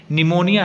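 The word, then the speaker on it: pneumonia: In swear cases of corona virus निमोनिया, यहाँ पे निमोनिया, यहाँ पर पी लिखा हुआ है, यहाँ पे बेटा पी जो है वो साइलेंट है, निमोनिया आएगा प्रोनाउंसिएशन में।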